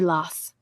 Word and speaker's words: Law: great things of monsier lass the French pronounced his name in this manner to avoid the ungol sound a after the failure of